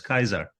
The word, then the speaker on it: Caesar: of course you know the Romans didn't pronounce it as Caesar but as Kaiser which is a German